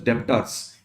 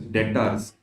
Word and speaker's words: debts: to call it as depas yeah then my accounts which are corrected saying it is debts I'm like then why B is silent in that I used to ask